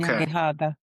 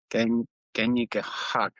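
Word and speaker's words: Kanyen'kehà:ka: The K's are pronounced G's. Oh, okay. Kanyakahaga. Okay. Kanyakahaga.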